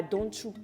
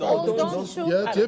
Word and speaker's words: Odonchu: La fête des ignames, par exemple, c'était à Donchou. C'est comme ça. Non, c'est Odonchu. Tu ne peux pas mélanger ma fête ici. On dit Odonchu.